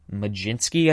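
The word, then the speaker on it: Mlodzinski: ended up taking Carmen lijinsky I think is how you pronounce it not spelled like McGinty obviously but I think that's how it's pronounced a pitcher with their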